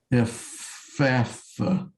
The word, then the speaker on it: Ephphatha: And it is F-E-P-H, Uh-huh. and make it like a double F sound. F-F-A. Ephatha. Yeah. It's like a double F sound after E.